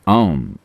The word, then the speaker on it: ओम: से किया जाना चाहिए आम मंत्र में तीन आवाजें हैं आ उ और म यह आ उ और म जब आप इसका उच्चारण करते हैं तो उन्हें लगभग बराबर होना चाहिए और आपको नाभी के ठीक